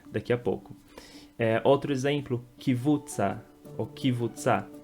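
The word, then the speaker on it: קבוצה: Outro exemplo, kivutza, ou kivutza. A pronúncia correta é k, é um k mudo, então kvutza, kvutza, e não kivutza, como as pessoas acrescentam esse i.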